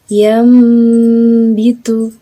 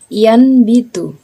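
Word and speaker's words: يُنْبِتُ: Yambitu, yambitu, yambitu. Cara membacanya bukan yanbitu, yang bitu juga bukan, akan tetapi merapatkan bibirnya atau merenggangkan sedikit. Yambitu, yambitu.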